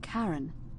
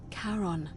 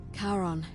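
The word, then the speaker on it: Charon: you described it only your pronunciation is a little off the name you heard wasn't Karen it was c h a r o n as in Caron the ferryman of the Dead karon who in exchange for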